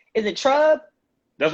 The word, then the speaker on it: Trub: Is it Trub?